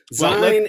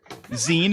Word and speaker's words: zine: Zine let's be clear. According to the Bindery website, zine is a noun pronounced zine, Z-E-E-N, zine.